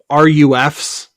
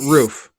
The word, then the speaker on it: Ruf: to make like um rufs but from Porsche you know what I mean yeah is it Ruf or is it roof I think roof is the actual PR actually pronounced yeah all all out